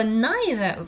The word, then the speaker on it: neither: Вот это слово neither в американском английском произносится как neither. Я говорю neither, можете произносить neither, если вам так больше нравится, но у него два произношения.